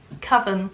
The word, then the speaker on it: coven: Apparently it's coven. I've been pronouncing it wrong this whole time, but because I'm stubborn, I won't pronounce it coven. And I'm just gonna carry on pronouncing it coven.